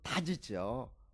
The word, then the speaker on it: 닷: 그리고 그 달의 원래 말은 달이 아니고 닷이죠. 닷. 닷. 예. 그러니까 원발음을 하면 디귿을 붙여야 맞는 말이에요. 닷 음.